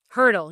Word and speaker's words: Hertel: I used to always tell people it's like the track instrument, just not spelled the same.